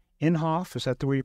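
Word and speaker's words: Inhofe: by the senator from Oklahoma MH James n inhoff is that the way you pronounce his name yeah and it's a pretty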